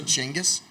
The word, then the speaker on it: Genghis: Did you say Genghis instead of Genghis? He actually knows the correct pronunciation of Genghis Khan.